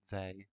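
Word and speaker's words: Weil: exactly to the effective they divisors, and yeah, that's how you pronounce they. He is French. Um, or there is a more French way of pronouncing it, but I am not French.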